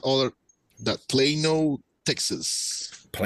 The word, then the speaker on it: Plano: it's not all that Plano Texas and in Spanish is pronounced Plano I can't tell you how many softball games I've played in Plano right right I'm uh